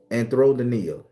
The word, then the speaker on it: Anthrodynia: Anthrodynia.